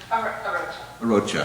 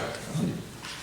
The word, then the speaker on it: Arocha: So we have, you pronounce her last name Arocha? Arocha. Arocha. Mayor, you had it correct.